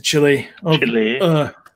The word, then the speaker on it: Chile: So they get into Chile. Chile. Yeah, that's how you pronounce it.